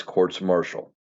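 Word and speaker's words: courts-martial: And yes, that is the proper way to say that. Not because yeah, it is the plural of courts and Marshall describes the court. Anyway, um, all things courts marshall.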